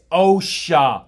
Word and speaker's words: OSHA: It's OSHA, Russ The Suss. OSHA. Pronounce it with me. Sha.